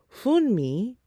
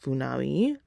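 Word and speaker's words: Funmi: second wife's name wrong it's fun me not funawi um yeah so I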